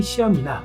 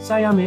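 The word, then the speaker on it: Siam: 그런데 한국에서는 이 나라를 흔히 시암이나 샴이라고 부르는데 정확한 발음은 사얌에 훨씬 가깝습니다. 그 샴도 사실 이 나라 이름에서 온 건데 정확히 부르려면 사얌 고양이라고 해야 맞습니다.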